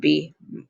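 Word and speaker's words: bien: doing well bad would be oh let's pause for a second B this ends in a nasal again do not pronounce n it's be it's ends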